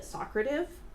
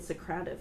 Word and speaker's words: Socrative: a long time sidenote I always called it socrata v' but then I watched a video and apparently it Socrative you guys like so I've been pronouncing it wrong my whole life but what Socrative does